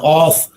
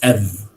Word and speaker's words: of: in a sentence right we pronounce it as f okay it's not off but it is f right it's weak it's